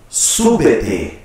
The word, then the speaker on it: Súbete: Súbete. Three syllables. Súbete.